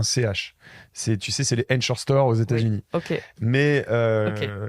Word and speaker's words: Ankorstore: Tu sais, c'est les Encore Store aux États-Unis.